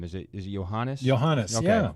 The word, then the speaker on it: Johannes: Johannes, Okay.